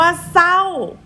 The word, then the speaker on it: เศร้า: เสียง แต่ จอ จาน คำ ว่า เศร้า ศ. รอ เอา เสา ไม่ โทร เศร้า จะ ออก เสียง แต่ ส.ส. ยะลา ก็ อย่า ลืม นะ คะ